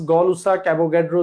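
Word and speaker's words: Gay-Lussac: আরেকবার দেখাই Boyle Charles গেলুসাক আসলে গেলুসাক না উনার একচুয়াল নাম হল গলুসাক উনার আসল নাম কি গলুসাক কিন্তু আমাদের হ্যা আমাদের বইতে জ্ঞান জানি গেলুসাক লিখা আই ডোন্ট নো এটার উচ্চারণ হল গলুসাক বলব আমরা গলুসাকের সূত্র সমন্বয়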